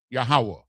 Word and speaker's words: Yahweh: Meaning that we all, in order to speak the name of the Most High God, you have to say it in Hebrew, Yahweh. That's how it's pronounced.